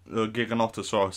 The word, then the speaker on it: Giganotosaurus: in this short preview so was the gigans giganotosaurus actually is how it's pronounced and the dreadnaughtus we've seen this we've